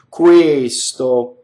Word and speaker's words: questo: Questo, the S rule is in effect, right? Careful singers of Italian will make sure that the S goes on the next syllable. Questo, not questo, right?